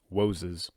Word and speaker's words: Woses: Woses. It's like you're mispronouncing it, but you're not.